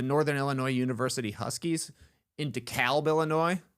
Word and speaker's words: DeKalb: Uh DeKalb. DeKalb. Yeah, I think the Atlanta way of pronouncing it doesn't make any sense. DeKalb, where's that L, man?